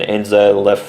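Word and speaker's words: Enzo Le Fée: It's got the inflection on the first E of the two. It's like fe like F E E but the first E has got the inflection on top of it.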